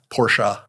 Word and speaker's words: Porsche: I'm positive you're right are you supposed to say Porsche or Porsche Porsche you're supposed to say it like that ah well I don't think I can do it Ferdinand Porsche who created the company that's how he pronounced his name Porsche I don't know Ferdinand